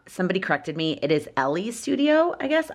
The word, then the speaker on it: Ellie's: Again, it's from, somebody corrected me, it is Ellie's studio, I guess. I thought it's spelled like L's, but pronounced Ellie.